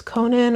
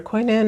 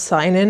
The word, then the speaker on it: Cynan: So I believe it's Conan or Quinan or something. It's a West Welsh name, so it's not pronounced the way it's spelled. It's not Sin as I would have assumed.